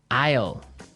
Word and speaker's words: aisle: spelled so strangely right we don't pronounce the S the S is silent that's true ale so